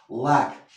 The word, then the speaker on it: lack: Lack, ¿ves cómo esa L la pronuncio como pronuncian los catalanes?